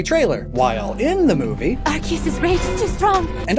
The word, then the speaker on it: Arceus: There are over a dozen ways individuals pronounce its divine name. Spelled A-R-C-E-U-S, Arceus, Arceus, Arceus, Arceus, Arceus, Arceus, Arceus, Arceus, Arceus, even Arceus, and on and on.